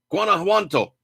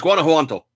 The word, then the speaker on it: Guanajuato: sporting ammunition was stolen in the state of Guanajuato. Guanajuato, I think that's how it's said. It's like Guana, and then the J, so Juanto. I think it's Guanajuato.